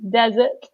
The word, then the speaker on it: desert: have desert so again we stress the first syllable desert and then I don't